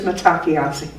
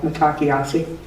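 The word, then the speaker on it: Mitákuye Oyás'iŋ: And the sentence is Matakiasi. It's not spelled like it sounds at all, Matakiasi.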